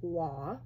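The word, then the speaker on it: Roy: was written by Gabrielle Waugh. Now, I'm not sure if I'm saying that correctly, but I think that's the French pronunciation of R-O-Y.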